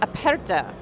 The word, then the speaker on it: Aperta: we're talking about the aperta now that's the Italian pronunciation now how did where